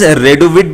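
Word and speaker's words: Reduviid: Next is Redu wheat bug. Now this Redu is pronounced like radio.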